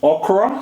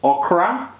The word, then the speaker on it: okra: In Africa, it is actually pronounced okra, so O-K-R-O. But of course, in the West is pronounced okra, O-K-R-O-A.